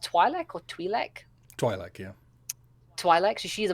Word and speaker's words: Twi'lek: party who is a morally good, is it pronounced Twi'lek or Twi'lek? Twi'lek, yeah.